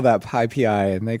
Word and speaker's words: PyPI: the people who make that they call that pipi and they call numpai and and so just pyx for example, right?